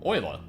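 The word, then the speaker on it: Euler: Oh, oiler. And yes, that is how you pronounce that by the way.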